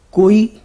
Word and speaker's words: کوئی: کوئی کے ہمارے یہاں 3 تلفظ رائج ہیں. اس کا پہلا تلفظ ہے کوئی، کاف پر پیش ہے، واو ساکن ہے، حمزے کے بعد یہ ہے.